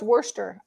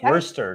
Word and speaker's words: Worcester: price on this did you get that it's pronounced Worcester um Worcester No Seeds I don't remember see silent gotcha